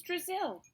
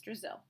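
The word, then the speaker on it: Drazil: "It was just a little joke. Brazil rhymes with Drizzle. I thought it might help you remember my name."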